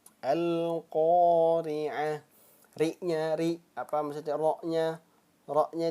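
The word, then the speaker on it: القارعة: Nah, maka kalau disukunkan atau diwakafkan, dia bacanya bukan lagi huruf ta. Nah, dia dibacanya bukan lagi huruf ta. Nah, kan coba ya kalau kita baca ini kan ta ya. Ini kan huruf ta. Coba kita baca al-qari'ah. Nah, dia berubah menjadi huruf apa?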